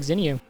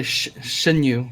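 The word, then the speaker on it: Xinyu: You can say Shinyu because that's how you pronounce his name. It's yeah, not his name. Shinyu. Oh, is it Shinyu? I apologize. That's how you pronounce the X.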